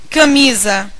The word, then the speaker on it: camisa: Qual é a sílaba tônica de invisível? Invisível. Isso aqui é uma paroxítona.